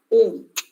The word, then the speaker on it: Om: Now, the first part of Gayatri mantra start with the pranaba, Om, which we pronounce like a, u and ma.